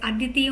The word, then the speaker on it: Aditi: is the Aditi scheme that is a d TI scheme the pronunciation is also called as Aditi only as per the literature